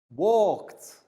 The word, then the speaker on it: walked: going to look at is e d pronounced as t let's take a look walked notice even though it's ed walked i walked home from school with my friend today yes so the ed letters producing the final t sound or finished i finished